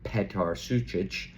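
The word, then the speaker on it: Petar Sučić: I got was telling me I needed to pronounce it. So Petar Sucic and Luis Enrique, their debuts.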